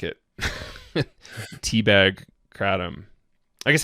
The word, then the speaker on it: Kratom: big thing is that the American pronunciation, which we've been using, Kratom, is just kind of a bastardization of what the close to what the original pronunciation is. And so I'm going to kind of bastardize the original, but it's closer to Kratom. And so in English, the non-pretentious way of staying close to that true pronunciation is Kratom.